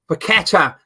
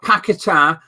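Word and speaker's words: Paquetá: for your players but West Ham ones come up petta not paketa petta years I put up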